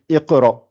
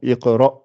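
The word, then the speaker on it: اقْرَأْ: Et pourtant, quand vous lisez, vous dites Iqra. Vous êtes obligé de faire un I. Donc, Iqra bismi rabbika alladhi khalaq.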